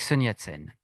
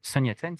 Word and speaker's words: Sun Yat-sen: On va commencer avec Sun Yat-sen.